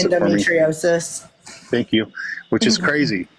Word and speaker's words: endometriosis: 11 years to get diagnosed with IND Endo pronounce endometriosis thank you which is crazy which is crazy